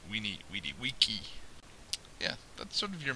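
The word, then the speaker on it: veni vidi vici: always likes so said these uh sound like our W's so that famous Latin phrase Vini vidi vici uh is we need Wiki yeah that's sort of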